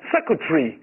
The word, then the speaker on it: secretary: 以不读，我们读成 Secretary。